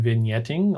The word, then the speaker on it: vignetting: the vignette proscrop vignetting the g is silent in vignetting a lot like the b and subtle and then we have